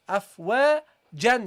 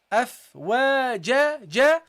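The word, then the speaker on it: أَفْوَاجًا: And you drop the noon at the end. The noon in pronunciation. Afwajan. You don't say that, okay? So you don't read the tanween. What do you say? Afwaja, ja.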